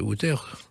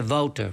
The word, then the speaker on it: Wouter: Mes deux frères encore, peut-être encore quelques nièces, quelques neveux, mais globalement, on prononce ça Wouter, parce que Wouter, pour un chanteur, c'est peut-être pas tout ce qu'il faut faire.